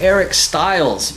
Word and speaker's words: Eric Stiles: this is another chance encounter today i'm with eric styles and how are you doing today eric hey